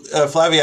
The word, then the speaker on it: Flavia: So Flavia asked another question, and I've been told now that I am pronouncing it correctly.